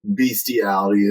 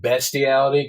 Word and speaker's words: bestiality: sexy stud um so it's a donkey show beastiality as they call it or inner species erotica inner species erotica it's it's pronounced bestiality cuz that's how it spelled oh okay well I'm going to call it beastiality because I believe the sexy St thought it